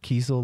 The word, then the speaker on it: Kiesel: Kiesel like diesel, spelled the same.